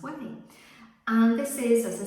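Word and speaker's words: Ouai: uh heat protection spray from a company called whey so it's ou ai pronounced way and this is as i said the heat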